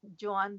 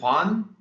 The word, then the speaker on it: Joan: is uh she's from a catalan artist he's joanne discara and he's from the comic ah okay yeah he's using airbrush yeah yes okay cool uh how do you say that name one more time is it juan juan is catalan johan j o a j